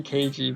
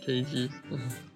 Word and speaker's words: Keiji: I always called him Keiji It's- because no, it's- K-E-I. It's definitely Keiji, but I can't. That's just me. That Ah, I show. see. That show. I was worried I was wrong about the pronunciation for a minute. Yeah, no, it's Keiji.